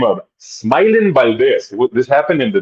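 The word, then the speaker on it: Smaylin: He attacks Smile, which is spelled S M A Y L I N. I think it's it sounds like smiling Valdez, but Smiling where he stopped the fight in the second round against Anel Cruz.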